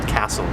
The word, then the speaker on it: CASEL: And this is coming out of the Collaboration for Academic and Social Learning, which is pronounced CASEL, C-A-S-E-L.